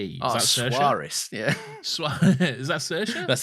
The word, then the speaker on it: Saoirse: Saoirse. Oh, Suarez.